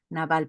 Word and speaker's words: Nabal: Bueno, así se pronuncia como con nuestro castellano, Nabal, pero Nabal era un hombre malísimo, y se portaba muy mal con Abigail.